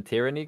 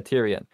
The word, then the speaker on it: Tyrion: he thinks is kind of legit is the tyranny guy. Tyranny? I don't really know Tyrion? How to pronounce it. Yeah, Tyrion.